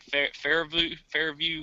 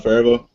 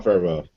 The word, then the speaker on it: Favreau: Fairview. How do you say his last name? John Favreau. Yes, John Favreau.